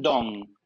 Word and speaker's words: Dosne: es la doctora Christiane Dong. Se escribe Dosne, Christiane Dosne, pero se dice Christiane Dong por lo que estuve averiguando.